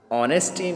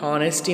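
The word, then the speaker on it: honesty: It shows, तो यहाँ पर नेसेसरी मीन्स ज़रूरी, ऑनेस्टी मीन्स ईमानदारी, हॉनेस्टी नहीं, क्या पढ़ोगे, ऑनेस्टी, ये चीज़ साइलेंट।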